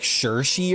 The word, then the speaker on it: Saoirse: Her name is actually like Saoirse or something. Is it Saoirse Ronan? You got to pronounce it like Sowie Reese Ronan.